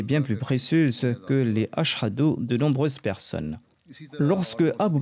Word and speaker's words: Ashhadu: Étant abyssinien, il ne prononçait pas la lettre H en arabe dans Ashhadu et il disait Asadu.